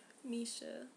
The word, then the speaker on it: Misha: you have to say his name like that Misha let's say to get just so I can see this picture right here side note by Misha it's so funny because like whenever I talk about Misha I try to show somebody a picture like